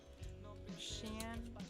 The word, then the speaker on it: Shein: Shein fails, yes.